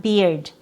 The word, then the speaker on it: beard: pronounced as bird, not beard. That's a different word. Actually, it's over here. So this one, this word here with BEARD, it has same spelling, but it has a short I sound.